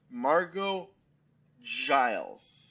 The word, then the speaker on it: Margeaux Giles: So for this episode, I have with me Margeaux Giles.